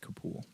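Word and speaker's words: Capule: a kid still hoping for a high grade kapool uh K or c-a-p-u-l-e uh that actually I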